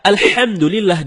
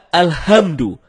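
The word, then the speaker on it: الحمد لله: ketika membaca alhamdulillahirobbilalamin HD membaca alhamdulillah tidak menggunakan hak dalam kerongkongan kalau kita membaca alhamdulillah dengan head dalam kerongkongan ya artinya segala puji bagi Allah dan sebaliknya kalau kita baca alhamdulillah alhamdulillah bukan tenggorokan maka artinya segala kematian jauh berbeda begitu juga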